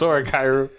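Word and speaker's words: 俺ガイル: Is that actually how you pronounce it? No, it's Oregairu.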